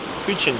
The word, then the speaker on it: huchen: We just found a very awesome huchen. Am I pronouncing it right? Huchen. Yeah, huchen.